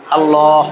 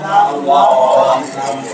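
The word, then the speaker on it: الله: হা আলিফ লাম হা আলিফ লাম লাম হা আল্লাহ আল্লাহ যদি জবর জের বসায় দেই আল্লাহ এইজন্য কয়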